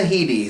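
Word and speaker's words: Headey: now edie oh lena heaty edie neat lena heady is her name so she did great for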